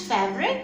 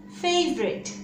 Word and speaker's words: favorite: nature april favorite favorite so if you pronounce fabric that's wrong do correct it right now favorite third sound is ah